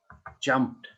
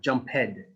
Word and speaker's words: jumped: s b kissed kissed same as jump jumped jumped not jump head not say jump head danced danced not dan